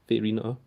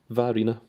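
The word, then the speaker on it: Vairina: Is that how you pronounce? Verina. According to Silver Sky Gazer, that is how it's pronounced. Varina.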